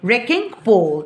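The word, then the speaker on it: wrecking ball: طب ميس بسم الله الرحمن الرحيم، ايه حرف الدبليو اللي في الاول ده؟ سايلنت مش بيتنطق، اسمها ايه؟ ريكينج بول.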